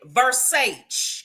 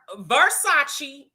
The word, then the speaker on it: Versace: And they just so happen to be, I know you will pronounce it Versace because you don't know nothing about that. Uh-huh. Huh? Excuse me, baby, these are Versace.